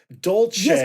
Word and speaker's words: dolce: Italian, not Spanish, and pronounced with a C that sounds like a ch in English. So, it's so dolce.